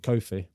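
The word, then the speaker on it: Koffi: number eight Herve coffee I feel like you're pronouncing that wrong is it coffee or Kofi Kofi yeah is Kofi sorry Kofi you say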